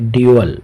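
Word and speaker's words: dull: दोनों अर्थात दोहरी जबकि डल डी यूई एल और इसका प्रशन होता है डल डल अर्थात युद्ध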